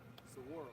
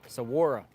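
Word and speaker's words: Saguaro: What's how do you pronounce the name of the park? Sora. Sora.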